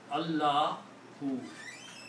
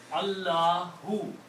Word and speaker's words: Allahu: And the correct pronunciation of this is Allahu. The full name, the correct pronunciation is Allahu.